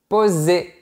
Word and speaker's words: posé: moi je m'appelle posé pas d'accent sur le E on ne le prononce pas posez accent aigu sur le E on le prononce poser et une petite curiosité